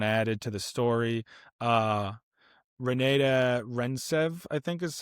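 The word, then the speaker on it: Renate Reinsve: Uh, Renata Rentsev, I think is how you say her name.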